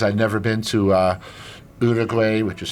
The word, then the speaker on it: Uruguay: my list cuz I'd never been to uh Uruguay which is how you're supposed to pronounce it yeah or let's say Ecuador or